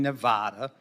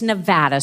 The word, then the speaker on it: Nevada: a month point in Nevada okay Nevada it's Nevada sir please say it correctly it's Nevada if a veteran lives out